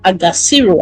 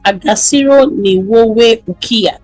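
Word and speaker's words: Agaciro: He then said there's a saying we have in Rwanda called Agassiro. I hope I'm pronouncing that well. A G A C I R O. It means dignity. And like Kagami always says, Agassiro, which means dignity is not given, it is taken.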